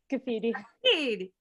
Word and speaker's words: Scaffidi: So first we have Alex Scaffidi. Scaffidi. You got to do that. Oh God. Oh God. I really butchered it, Serena, last time.